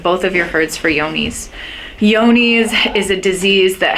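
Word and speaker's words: Johne's: testing results from is called yoni's or it's spelled like john's yones is a disease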